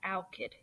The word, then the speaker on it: alkyd: You pronounce that alkyd.